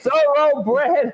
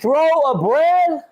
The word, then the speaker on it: thoroughbred: Are you trying to say thoroughbred, homie? Thoroughbred. So you're saying throw a bread? Thoroughbred. Throw a piece of bread? I'm not saying throw a bread. I'm saying thoroughbred.